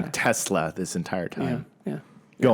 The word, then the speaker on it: Tesla: as an example, they Are we supposed to pronounce it with like a Z of the S? yeah, I think so. It's supposed to be Tesla? Tesla, yeah. Not Tesla? No, Tesla. I'm sorry, Elon.